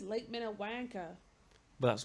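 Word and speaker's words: Minnewanka: She says Lake Minwanka.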